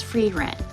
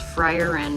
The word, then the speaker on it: Frieren: first question free Ren her name is free Ren all this time I thought it was frier Ren because of how it's spelled but so we're starting